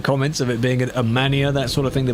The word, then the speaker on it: MAN: of it being a mania, that sort of thing, they'd be like, no, it's MAN. You must say MAN because it does stand for something in German. So you must say it properly.